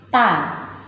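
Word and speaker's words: ت: Cara pengucapannya gini. Ta. Lidahnya digigit sedikit.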